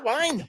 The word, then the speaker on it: Wein: Woo, wine, woo, Still wine.